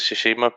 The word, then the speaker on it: Tsushima: You pronounced Ghost of Tsushima properly.